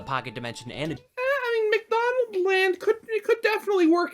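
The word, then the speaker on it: McDonaldland: place between Earth and McDonald's land its proper pronunciation is McDonald Land but that sounds significantly Dumber so we're not going to call it by the correct name McDonald's land is simultaneously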